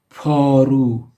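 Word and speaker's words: پارو: Paru, P alif re vav, paru, which means the shovel.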